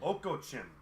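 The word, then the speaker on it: Okocim: Oko Chin is how you pronounce it.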